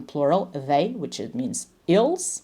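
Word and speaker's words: ils: they which it means ills right don't pronounce the S though it's ill Mash okay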